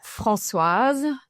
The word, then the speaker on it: Françoise: So my name is Françoise. So it's a French name, so it can be a little bit of a mouthful for English-speaking people.